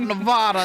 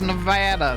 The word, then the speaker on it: Nevada: Proper pronunciation of Nevada is Nevada. It's not Nevada. It's Nevada. Say it right.